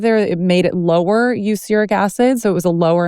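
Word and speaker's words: erucic acid: I always forget how to pronounce it exactly. It's not uric acid. It's like uric acid.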